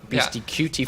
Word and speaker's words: BeastyQT: So if you spell that out, it's Beasty, then C-U-T-E-Y. BeastyQT for anybody that doesn't know.